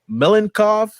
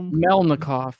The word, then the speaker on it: Melnikov: and covered by uh gleb melanchov there you go melnikov no makov i said i said i pronounced it a little bit better than brookie um but yeah man